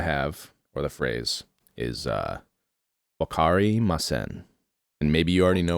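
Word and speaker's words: わかりません: a breakdown of like, say it syllable by syllable. Okay. So Wa. Ka. Ri. Like R-I. It's kind of like more of like an L-I almost. Okay. Ma. Sen. And sen is like you say it like a S, almost like an S-E-H-N. So sen. Okay, sen. So wakari masen.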